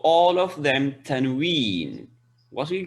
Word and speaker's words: tanween: What is tanween? Man, that n sound at the end of the letter. That noon Okay. sound or the sound of the n. That is like ma and an, man. That is called tanween.